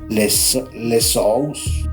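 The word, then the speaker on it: Ἰησοῦς: Este es el mismo nombre que en griego se traduce como Jesús y se pronuncia lesous.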